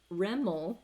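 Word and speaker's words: REML: would be useful anywho rimmel as it is pronounced is residual maximum likelihood so maximizing the likelihood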